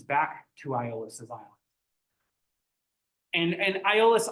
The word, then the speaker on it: Aeolus: After Odysseus returns back to Aeolus's island, and Aeolus, I call him Aeolus because of my Greek. His name is often pronounced as Eolus, and even so his original name is this, and actually it's this.